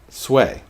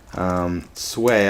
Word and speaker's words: Sui: son, Emperor Yang of Sui. So, did I say Sui dynasty? I meant Sui. S-U-I, Sui, Sui, Sui.